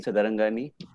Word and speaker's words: Sadarangani: My name is Sadarangani. जैसा नाम पे ही पता चलता है, इतना लंबा सरनेम है, मतलब सिंधी है. All Sindhi surnames are long and they rhyme with money.